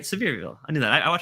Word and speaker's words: Sevierville: more honey flavor yeah um Donnie with the pronunciation he says it's it's from severe okay I'm right Sevierville I knew that I watch a couple of